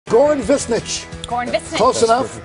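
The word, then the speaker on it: Višnjić: Goran Visnjic.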